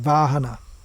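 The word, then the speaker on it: वाहन: That actually comes from Sanskrit, vahana, where the v is pronounced as w, and the h is pronounced as g. Still in Tamil, h and g are interchangeable.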